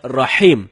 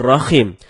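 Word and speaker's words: رحيم: Rohim artinya Maha merdu bacaan yang benarnya Insya Allah dengan huruf h dalam tenggorokan jadinya Rohim bukan rahim kalau teman-teman bacanya Rohim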